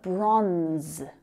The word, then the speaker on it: bronze: Next up, we've got bronze. Bronze. Now that's a really tricky consonant cluster there. It's just one syllable. That E is silent.